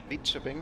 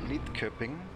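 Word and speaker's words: Lidköping: Lead-shipping is written with a D and a K. In German you would pronounce it Lead-Köpping. But you know, in Sweden it's Lead-shipping.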